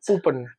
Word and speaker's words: Puppen: How do you pronounce it? Hoopen.